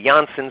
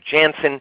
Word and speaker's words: Janssen: of names and pronunciations some people say Janson some say Jansen it's all part of